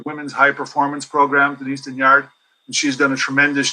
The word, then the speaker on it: Dignard: In English, it's Dignard. In French, Dignard. it's Dignard.